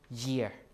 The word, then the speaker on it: gear: modern English is gear but in Old English because you see this is a front vowel right e is a front vowel so before a front vowel it would be pronounced as a J which is year year so this is the word year ok so this pronounced like the word gear like that not gear year ok remember the J